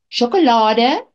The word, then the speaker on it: sjokolade: Mense gee sjokolade, rose en ander geskenke vir hulle geliefdes. Sjokolade, you notice SJ instead of a CH. Sh, the sound is spelled SJ.